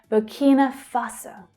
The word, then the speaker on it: Burkina Faso: Burkina, the stress there is on the second syllable. Burkina, Burkina. Burkina Faso, Burkina Faso.